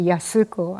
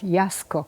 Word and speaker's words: Yasuko: and then that's true in Japanese if you say Yasuko and they'll say what and then because they pronounced it Yasco and then Martin knew